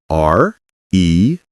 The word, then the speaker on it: read: R-E-A-D, but the pronunciation is different. Exactly. Today, I read a book. But for the past, yesterday, I read a book. It sounds like the color red.